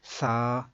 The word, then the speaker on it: ث: تو قرآن پاک پڑھا جاتا ہے عربی لہجے کے اندر. عربی لہجے کے مطابق قرآن پاک کو اگر پڑھیں گے تو وہ بے، تے نہیں بلکہ با، تا، سا ایسے ہوگا.